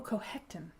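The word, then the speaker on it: Cochecton: And the town is Cohecton. Oh, Cohecton. Oh. The CH is a sound.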